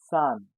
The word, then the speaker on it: Zahn: It has Z, but we pronounce it with S. Arzt. How do you call a tooth? Zahn.